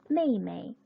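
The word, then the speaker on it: 妹妹: 첫 번째 여동생이란 단어가 나왔는데 가족 호칭을 이야기할 때 동일한 한자를 두 번 반복하고 뒤에 나와 있는 이 그 발음 같은 경우는 경성으로 읽는다 라고 말씀을 드렸었죠. 여동생 메이메이, 메이메이라고 합니다.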